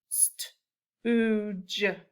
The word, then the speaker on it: stooge: Okay, this word, we have a vowel digraph, oo, and then this E is silent, and our G sounds like a J. So our blend is ST, which together makes the st sound. Stooge, stooge.